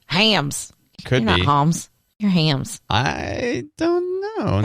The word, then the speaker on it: Hamm's: and hopskate so yeah this has clearly always been pronounced hams gotcha right if it